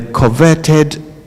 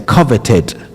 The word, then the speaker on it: coveted: The coverted man of the year award. So what these people are trying to say is the coveted.